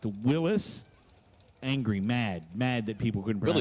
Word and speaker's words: Willys: John Willis, who was the Willis Overland Company, went to his grave in 1935 mad because people called his cars Willies. Not the name. His name is pronounced Willis.